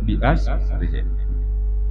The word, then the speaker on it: bi asrihi: Itu bacanya bi asrihi. Basirih. Hudusul alam basirih.